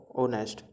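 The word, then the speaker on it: honest: अब इसमें ऑनेस्ट है, इसमें एच साइलेंट है, तो ये कैसा साउंड करता है, ओनेस्ट।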